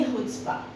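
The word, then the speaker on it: chutzpah: is just they the seventh word is the spelling is सी एच यू टी जेड पी एच ठीक है आप इसे पढ़ेंगे हुड्स्पा which means boldness और Audacity िटी है ना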